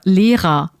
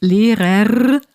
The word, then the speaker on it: Lehrer: in the sense that we don't really pronounce the R at the end of a word like teacher, Lehrer. It's spelled with an R, so you could expect it to be pronounced Lehrer, but it's not.